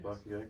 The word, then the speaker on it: Paqtnkek: That's why people have such a hard time with the pronunciation of Paqtnkek, because you know, it's a P. You're saying something that sounds like a B.